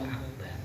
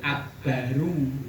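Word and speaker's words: أكبر: i Allahu akbar ora akbaru beda akbaru karena Apa itu kalimat yang terakhir. Yang terakhir itu dibaca sukun. Kalau sukun itu sama saja dengan jazm. Jadi bacanya itu bukan Allahu Akbaru, tapi Allahu Akbar.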